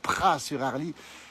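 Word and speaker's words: Praz-sur-Arly: village où nous sommes Pras sur Harle ça s'écrit avec un Z mais on prononce pas le Z s'appelle les pralins et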